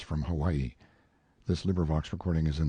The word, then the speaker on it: Hawaii: off mounted on my Noble Steed Hawaii pronounced how y e stress on second syllable a beast that cost